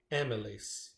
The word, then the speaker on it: amylase: over her dress, and that's why I call her Amy Lace. So this is the name of the chemical that breaks down the bread and turns it into glucose, amylase, and it's spelled AMYLASE.